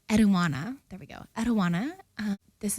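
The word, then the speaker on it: Enheduanna: I'm not pronouncing it correctly. Eduana, there we go.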